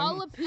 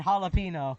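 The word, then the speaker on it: jalapeño: Enye, which is just which just makes a nya sound. Yeah. So that's where. So if Yeah. instead of the N and jalapeno, it'd be freaking Jalapeno.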